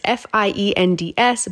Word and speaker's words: Best Fiends: have got to download best fiends and how you spell that is f-i-e-n-d-s but it is pronounced fiends this is a very